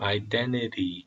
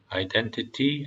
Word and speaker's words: identity: identity라고 하셔도 되고 무음으로 T 발음을 무음으로 identity 이렇게 하셔도 됩니다. identity 아니면 identity.